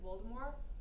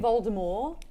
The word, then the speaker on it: Voldemort: reason she did it, she wanted it to be a French name like Voldemort, but once people started talking about it, it became such a colloquial that they pronounced the T.